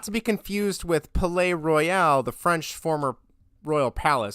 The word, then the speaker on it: Palaye Royale: It's not Pale. It's Palaye Royale.